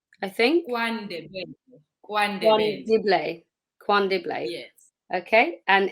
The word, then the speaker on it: KwaNdebele: have to ask Zana to help with the pronunciation here. I don't want to mess it up. Zana, in KwaNdebele, I think. KwaNdebele.